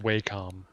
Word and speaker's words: Wacom: might be too much it's pronounced waycom wacom's the game you